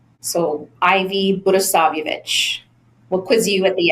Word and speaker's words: Budisavljevic: But phonetically, it's Budisavljevic. So Ivy Budisavljevic.